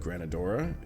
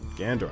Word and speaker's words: Gandora: Good, Granadora. Gandora. I'm adding extra syllables for no reason.